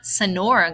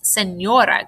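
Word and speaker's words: señora: Remember, it makes that nya, nya sound when you pronounce it. Like my name. It's not Sonora. It's Senora.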